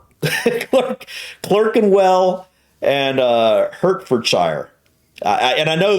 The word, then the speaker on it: Clerkenwell: ER is pronounced R. Berkshire, Clerkenwell, Hertford.